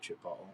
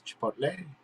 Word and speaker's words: chipotle: well that's you know in england we pronounce how we used to when i lived there pronounce it chipotle because that's what it looked like but really it's chipotle i mean and even